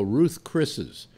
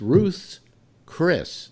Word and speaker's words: Ruth's Chris: hardly anybody ever does they go Ruth's Chris's but it's Ruth's Chris now why is it